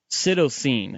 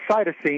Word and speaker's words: cytosine: experiments do not produce Sydow seen is that how you pronounce it you prompted cytosine cytosine yeah but but your points